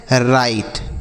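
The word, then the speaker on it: write: देखिए यहां पर है डब्ल्यू जो लिखा है बच्चों यह साइलेंट है। इसको हम नहीं पढ़ेंगे। डब्ल्यू साइलेंट होता है।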